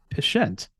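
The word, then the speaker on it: pschent: is known as the patient speaking of lack of Silent P there we have another hard P that is most certainly not silent and yes that double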